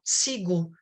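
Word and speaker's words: CIGU: El coloquio se llama SIGU. Me ayuda, Estela, con la pronunciación de las letras.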